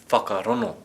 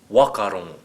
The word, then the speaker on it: whakarongo: Well, that'd be whakarono, And if we were from Taranaki? wakarono, And how would Ngāpuhi say it? hakarono.